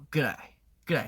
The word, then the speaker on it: g'day: 아니면 근데 또 호주에서는 완전 약간 호주 억양을 마스터했다 싶으면은 보통 hi 말고 그라이 mate 그라이가 나와요. 그 그라이는 뭐냐? good day를 줄여서 그라이로 한 거예요.